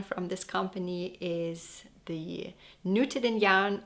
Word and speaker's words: Nutiden: And the popular yarn from this company is the Nutiden yarn, which I think is actually pronounced Nutiden in Swedish.